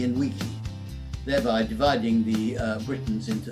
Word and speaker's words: vici: Latin is Veni, Vidi, Vici. Except some people pronounced it slightly differently, and they would pronounce the V as a W. So some people think he said weenie, weedy and weaky, thereby dividing the Britons into three rather inconsequential people.